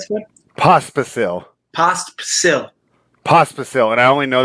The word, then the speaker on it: Pospisil: Pospisil, am I pronouncing that right, Scott? Pospisil. Pospisil, and I only know that because I mispronounced it on our ATP pod yesterday, and they corrected me. It's Pospisil.